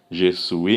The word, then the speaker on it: je suis: Então, o S aqui é mudo. O S, quando está no final, em francês, é uma das regras. O S no final é mudo, então você não pode ler. Não pode pronunciar o S. Então fica je suis.